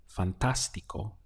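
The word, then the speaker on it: fantástico: fantastic in Spanish is Fantastico notice the accent over the a this is the point where you have to stress so we get Fantastico how would you say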